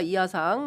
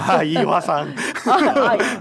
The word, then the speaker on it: 이하상: 그 사진 좀 올려주시면 좋을 것 같은데 한쪽에서는 자랑스러운 배제고 힘내자 너희들은 죄가 없다 변호사 이하상 뭐 이런 이화상. 이하상입니다. 네. 이하상. 혀가 짧아서 그래요.